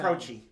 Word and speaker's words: Croce: Croce. Jim Croce did that. Jim Croce. I always pronounced his name Jim Croce.